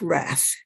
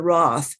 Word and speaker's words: wrath: Okay, let us start talking about this movie today, The Grapes of Wrath. When I was in Taiwan, we speak English more the British way, so we would pronounce it the grapes of wrath, the wrath of Huang, and so on, the wrath.